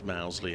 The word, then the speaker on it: Mousley: pronunciations but um anyway so that's why we say Mosey you might hear him refer to as mousley elsewhere it's the same bloke 24 for two wait